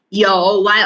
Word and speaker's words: 有: 有 make sure you pronounce clear 有 you tone mark number 3 meaning means have.